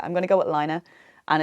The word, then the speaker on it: Laine: And the Finnish pronunciation apparently is Laine. So I'm going to say Laine.